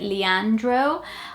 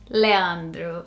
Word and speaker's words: Leandro: anyone here pronounce, or so I'm just guessing how people here would say it, Leandro or Leandro, but not Leandro, which is how we would say it in Portuguese.